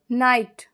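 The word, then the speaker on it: knight: निर्णय निर्णय जजमेंट बोलेंगे नाइट नाइट यहां के साइलेंट है इसको हिंदी में बोलते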